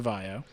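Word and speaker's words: VAIO: used to have a laptop line called the Vio.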